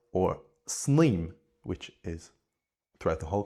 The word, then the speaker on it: sníomh: with an I, or sníomh, which is throughout the whole country as demonstrated, generally pronounced with an e sound.